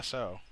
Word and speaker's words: Tso: asian you would know is it is it tau is it how do you pronounce that what no tso you can't even spell it dude what the